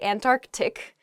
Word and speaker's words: Antarctic: is the antarctic they're sort of like almost a hiccup in the word they're antarctic oh uh in a